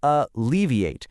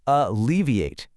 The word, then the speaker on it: alleviate: It has four syllables and the stress is right there on the second syllable. Alleviate. Try saying it out loud right now wherever you are. Alleviate.